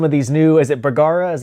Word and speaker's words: Bergara: you're shooting some of these new as it burger is how you pronounce it yeah yeah some of the new